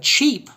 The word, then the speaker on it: cheap: The word cheap, however, not expensive, has a long E sound.